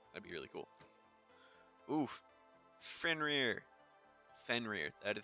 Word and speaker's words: Fenrir: Fenrir. That is how you pronounce it.